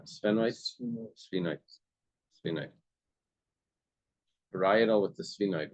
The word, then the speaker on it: sphenoid: Paretal parietal parietal I don't parietal and the temporal or maybe it's where it connects with the spenoid sphenoid sphenoid parietal with the sphenoid would be the where connects.